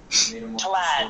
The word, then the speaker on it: Tlad: Tlad. It's like Vlad, but Tlad.